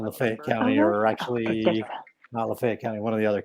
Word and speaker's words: Lafayette: and lo and behold i looked on the lafayette that's how you say it from north florida